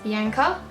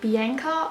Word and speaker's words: Bianca: A little pet peeve, obviously I'm Australian, we pronounce it Bianca. I get really annoyed I guess when Americans and even Canadians pronounce my name Bianca. It just, I don't know, like you can tell there's a difference when I say it right. Bianca, Bianca, big difference.